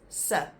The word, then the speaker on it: se: If it doesn't have the kappie, it's pronounced as se, which is also used very often.